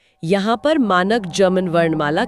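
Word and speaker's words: ja: German में जे का उच्चारण हमेशा य होता है। जैसे अंग्रेजी का वाई। हमेशा कोई अपवाद नहीं। कोई अपवाद नहीं। जैसे हां के लिए शब्द है या। जिसे बोलेंगे या।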